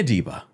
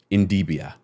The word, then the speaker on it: Idibia: Annie Adibia. There we go. Sorry, because I kept on mispronouncing it. Idibia. Here we go. Idibia.